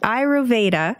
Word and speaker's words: Ayurveda: Am I pronouncing that correctly? Mm-hmm. Ayurveda.